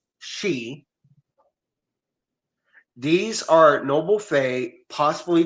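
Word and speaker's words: sidhe: Then you got the side which is Irish pronounced she.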